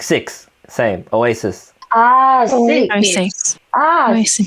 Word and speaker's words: Oasis: Shis 너 사실 너 shis 할 때 너 SHIS이라고 하고 있는데 그냥 sis이야. Oasis. 오아시스. Like that. Sis. 다시 말해. Sis. Yeah, sis like six. Same. Oasis.